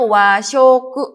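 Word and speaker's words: 和食: Nah ini dibacanya washoku, ketemu sama kanji shoku jadi dibacanya washoku.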